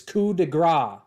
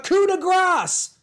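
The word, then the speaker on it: coup de grâce: It's fucking French. You don't pronounce the S. It's coup de grace. Stop it. It really annoys me. They're like, a coup de grace.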